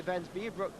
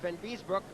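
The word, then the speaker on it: Vanbiesbrouck: but he really did miss that one by Van Biesbroek, right at the end of the period. Van Biesbroek, I'll say it correctly this time, as he took a chop at Lomakin.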